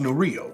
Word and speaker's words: Nurillo: or any, yes, it is pronounced Nurillo. It's Nurillo. You're correct.